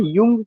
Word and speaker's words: Jung: युंग का है। युंग का, इसका प्रोनाउंसिएशन जुंग नहीं होगा, युंग होगा, क्योंकि जे साइलेंट हो जाता है।